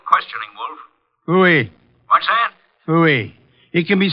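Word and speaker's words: Pfui: Phooey. It can be spelled in several ways. I spell it P-F-U-I.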